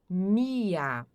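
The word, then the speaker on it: mir: O r aqui som de a. Mia.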